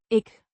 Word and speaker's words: ik: It's the first person singular pronoun pronounced ick.